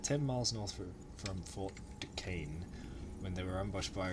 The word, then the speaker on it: Duquesne: Braddock had been sent to capture Fort Duquesne, that's how it's pronounced, Fort Duquesne, at the top of the Ohio River.